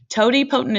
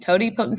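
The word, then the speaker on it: totipotent: talk about stem cell options at least so Tod potent is the first word there that's how you say it Tod potent stem cells can become anything that's needed in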